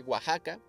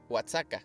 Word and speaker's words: Oaxaca: américa y que también capri no le dice oaxaca oaxaca le dice o ataca la primera vez que dijo oaxaca lo dijo como whatsapp y así como que no se dice oaxaca sigue igual crack